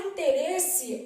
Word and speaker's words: interesse: beleza e na palavra interesse Olha o que que vai acontecer o i não é pronunciado im assim ó é nasal im aí depois eu tenho